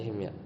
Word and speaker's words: Himyar: Quraisy ini lghah himyar ya bacanya himar nah kadang lamnya itu